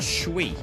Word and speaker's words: Twi: It's pronounced Chui. It's the language of Ghana.